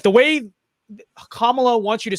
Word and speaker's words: Kamala: Now, most people in the U.S. pronounce it as either Kamala or Kamala Harris, and when Tucker Carlson pronounced it as Kamala Harris, people went batshit crazy and got pissed and corrected them and said it's Kamala Harris. But actually, it's neither. it's actually pronounced Kamala Harris.